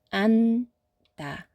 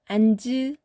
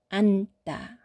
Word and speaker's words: 앉다: 앉다. 앉으 아니고 앉다. 은 소리만 선택합니다.